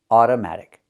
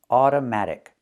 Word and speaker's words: automatic: Automatic. So we see the first O is pronounced with the sound, like in cup and up. Automatic. Automatic. Not automatic, but automatic.